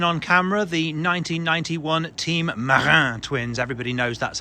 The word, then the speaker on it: Marin: Also never before seen on camera, the 1991 Team Marin twins. Everybody knows that's how you pronounce it.